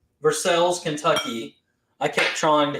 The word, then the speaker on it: Versailles: and, if I'm going to say this right, Versailles, Kentucky. I kept trying to call it Versailles, Kentucky, because that's the way it's spelled, French. But it's Versailles, Kentucky is how they pronounce it.